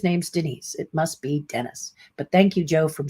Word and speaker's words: Dennis: feel dennis cowan is a man name is pronounced dennis he's a facebook friend of mine well he's featured in last year's uh price guide so that's what i'm talking about i didn't know about these people and you saw i don't really know how to pronounce their name right so i didn't know if it was female men because it looked like denise to me so dennis forgive me